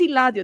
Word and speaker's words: Eladio: His name is Iladdio. That's how you say it in Spanish.